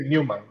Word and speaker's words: Neumann: pronuncié Newman.